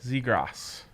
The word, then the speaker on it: Zegras: Zegras. Are you sure about Yes, it's not. There's no ass in his name.